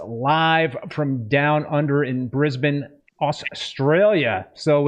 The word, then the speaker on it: Brisbane: coming to us live from down under in Brisbane, Australia. So it's Friday morning. Happy Friday there to you. Thank you. Thank you. Just had my first coffee. I'm feeling pretty good. I love how you pronounced Brisbane.